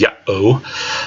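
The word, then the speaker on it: Ιαω: In Greek of the time, it would be Iota, Alpha, Omega, and that would be 2 syllables. Yah-oh, split at the iota, alpha, and the omega.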